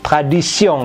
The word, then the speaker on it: tradition: La tradition, T pada tion itu dibunyikannya S. Ya, seperti di bahasa Inggris tradition gitu ya. Ini tradition karena on ya.